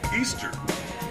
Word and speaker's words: Ishtar: After Constantine decided to Christianize the empire, Easter was changed to represent Jesus, but as its roots, Easter, which is how you pronounce Ishtar, is all about celebrating.